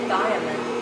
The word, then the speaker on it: thiamine: How do you pronounce the first one? Is it thiamine? How do you say that? I say thiamine.